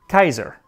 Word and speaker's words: Caesar: believed that a c was always pronounced as a k in old latin so it would be placenta and that would make caesar kaiser and you will find many